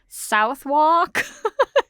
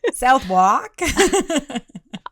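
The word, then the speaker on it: Southwark: Okay. It's spelled S. South. W A R K. So, how do you say that? Southwalk. W A R K. Walk. Yeah. Southwalk. It sounds like an American. It sounds like you're saying walk in an American accent.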